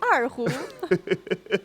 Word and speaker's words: erhu: Et Rocco, vous connaissez bien erhu? L'erhu? Je crois que j'ai bien prononcé l'erhu. Oui, erhu.